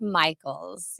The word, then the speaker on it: Mikles: pronounce your last name it's pronounced Michaels yeah oh okay now